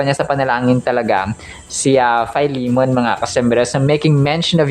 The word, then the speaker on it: Philemon: So ito po mga Kos unang-unang pag-pronounce po dito sa American English ay philimon no philimon kung sa tagalog mga customers or sa Ilonggo. Pero kapag sa American English ay fimon ah chapter 1: 4 hanggang 7.